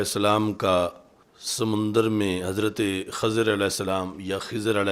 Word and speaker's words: خضر: سے مجھے بھی سکھائیں۔ تو یہ لفظ خضر فتح خا کے ساتھ اور کسرہ ضاد کے ساتھ، اور ایسے ہی خضر یعنی دوسرا اس کا تلفظ خضر ہے، خضر اور خضر، یہ آپ کا لقب